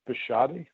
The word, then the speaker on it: Bashadi: um my name is pronounced bashadi uh in case anybody wants